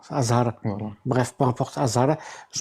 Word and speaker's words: Azhar: Azhar, pas Hazard. Pas Hazard. Oui, bref, s'il te plaît, bref. Dis Azhar, dis Azhar. Azhar. Voilà. Bref, peu importe, Azhar, je Y a pas de m'en bats la Hazard race.